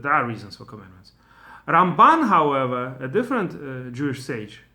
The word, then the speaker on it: Ramban: So that's why they say Rambam when they talk about Maimonides, and Ramban on stress on the last syllable when they talk about Nachmanides, Rabbi Moshe ben Nachman.